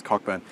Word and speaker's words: Cockburn: The name is Cockburn.